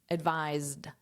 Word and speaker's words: advised: So it's advised. So this is a z. And then this is pronounced as just a soft d.